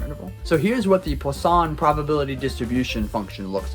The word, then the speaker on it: Poisson: It's French. It's like Poisson distribution.